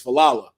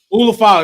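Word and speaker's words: Ula Fala: OTC comes out to re-get his I always say it right, his falala. Ulafala, that thing, not his falala.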